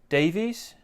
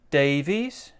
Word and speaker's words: Davies: hi is that john davies we're going to stress these two words here so again the intonation goes hi is that john davies notice here we've got two syllables davies now in this we've